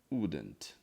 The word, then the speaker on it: wouldn't: eu falo assim, que a pronúncia desse aqui, ó, eu falo que é igual quando você vai no dentista, né? Aí o dentista pergunta pra você, qual que é o problema? É o dente da frente ou o dente do fundo? Então isso ajuda a lembrar, assim, dessa pronúncia, né?